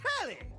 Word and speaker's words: Telly: The name's Telly rhymes with Nelly.